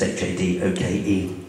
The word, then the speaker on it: Hadoke: I get very cross when people pronounce my surname wrong. Those of you that have seen it written down, it's Toby Hadoke, it's Hadoke. Everybody gets it wrong. I'm sure most of you pronounce it Hadoke.